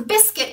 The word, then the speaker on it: Bisquit: right now this biscuit blonde shaded so the biscuit is spelled b-i-s-q-u-i-t if the information is correct and